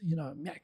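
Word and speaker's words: ミャク: But if you teach people how to pronounce it, Myak, it sounds like the aliens in Mars Attacks. Myak, this guy says more ack, but Myak.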